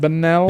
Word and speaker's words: Bunnell: There's a new place opening up in Bunnell. Yes. Is that how you pronounce it? Bunnell?